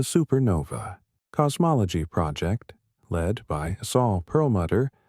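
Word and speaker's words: Saul Perlmutter: The supernova cosmology project led by Saul Pearlmutter, pronounced soul pearl mutter at the Lawrence Berkeley National Laboratory in California.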